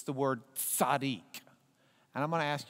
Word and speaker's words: tzaddik: You have the TZ. You have that next letter is the D. And then the yod just sounds like an E sound here. It doesn't really sound like a yah part. So it's just E sound.